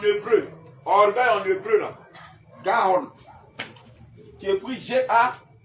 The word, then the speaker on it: Gaon: Le sens du mot en hébreu, orgueil en hébreu, là, Gaon. Tu écris G-A, accent, voilà, apostrophe, et puis O-N. Qui veut dire élévation, hauteur, fierté. Donc, hébreu, orgueil en hébreu, là. Gaon.